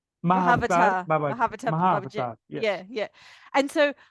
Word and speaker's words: Mahavatar: Mahavatar.